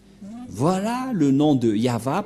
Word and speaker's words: Yahvah: de de yava et la prononciation de y h V he selon les Hébreux c'est yava et personne ne peut le